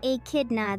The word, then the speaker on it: echidna: Pronounced as echidna, this creature is one of the only five